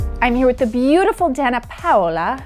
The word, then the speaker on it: Danna Paola: here with the beautiful Dana paa how is my pronunciation yeah good very good how do you say it Dan PA like that it sounds so much better when you say it